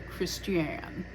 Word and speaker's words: Christian: and yes it's spelled Christian but it is pronounced Christian that's right we're really weird about our pronunciations